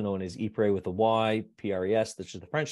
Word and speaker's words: Ypres: It's also known as Ypres with a Y, P-R-E-S, which is the French spelling. And if you're a British, we pronounce it Ypres.